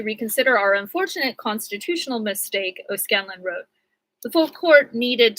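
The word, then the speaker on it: O'Scannlain: O'Scanlan, and it's spelled Scannlain, joined by the 14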